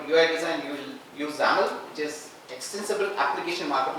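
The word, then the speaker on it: XAML: design you will use zaml which is extensible application market language XML is exens Market language this is exible application market language that's only difference and it is pronounced as Zam like camel uh I don't know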